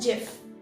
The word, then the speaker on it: GIF: next word is this is it called as gif or gif or gif the founder of this word said that it is known as jif so the word is actually called as jiff foreign now the current